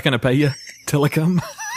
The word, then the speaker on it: Tilikum: not gonna pay you Tilikum it is ti Li ke um okay yeah I'm saying it right phonetically yeah yeah that's